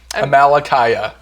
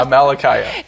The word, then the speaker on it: Amalickiah: Amalekiah. Scott said it wrong, and now it's in my head wrong. Yeah, Amalekiah.